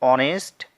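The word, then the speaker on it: honest: यहां पर है वो ऑनेस्ट मैन है तो यहां पर जो है ऐड किया है साइलेंट है इसे हम लोग नहीं पड़ते हैं इसे हिंदी में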